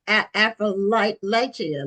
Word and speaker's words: Appalachia: It's like I'll throw an apple at you.